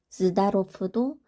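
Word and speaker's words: здоров: 짝꿍인 무성음이 빼이기 때문에 흘리에프, zdarov, zdarov도 단어 끝에 유성음 왜가 왔기 때문에 그 왜의 짝꿍은 F로 발음을 하게 되는 거예요. 짝꿍 무성음 F로 발음을 해서 zdarov.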